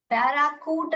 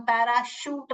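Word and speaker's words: parachute: पैराशूट, यहाँ भी देखिए श साउंड कर रहा है। पैराकूट नहीं पढ़ते हैं, चूट भी नहीं पढ़ते हैं, पैराचूट भी नहीं पढ़ते हैं, कूट भी नहीं पढ़ते, हम पैराशूट पढ़ते हैं, शूट, शूट।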